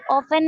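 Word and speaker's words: often: ऑफन एक हो गया, ऑफन, इसमें टी साइलेंट है, वेरी गुड।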